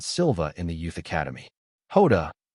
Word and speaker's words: Jota: Hoda is the Portuguese pronunciation of the letter J, making this equivalent to calling himself Dooo J.